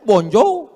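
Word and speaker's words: bonjour: Emangnya bahasa Prancis mudah tulisannya bon Jur bacanya bonjou bon shir bonswa jangan pelajari bahasa-bahasa orang kafir ini ini bahasanya munafik tulisan enggak sesuai dengan bacaan one dibaca Wan semua bahasa punya ciri khas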